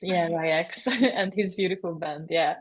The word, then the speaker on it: Ryx: So I know you worked with her, for example, or like now, I don't know how to pronounce it, RYX, R- Ryx? Ryex, yeah, Ryex, and his beautiful band.